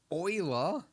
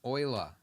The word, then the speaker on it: Euler: all right cool man Oiler is how we're supposed to pronounce your name but you're dead so you realize I'm going with Eula it makes more sense to me it's got an E and A U and an l and an ER you'll know all right so we